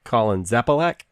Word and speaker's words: Zapalac: We also have, let me see if I say it right, Colin Zapalac. That is correct.